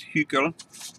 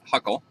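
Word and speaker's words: Hückel: I think if you were German you would pronounce this hugo but in america we call it Huckle and in the Huckle approximation we only include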